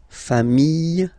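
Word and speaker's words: familles: put this s okay final s not pronounced fam singular form fam plural form same pronunciation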